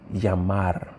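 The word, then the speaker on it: llamar: the actual verb the verb is actually yamar l-l-a-m-a-r which means we said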